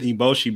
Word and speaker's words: Eboshi: But even that with Lady Eboshi, if I pronounce her name correctly, Eboshi, yeah, that's right.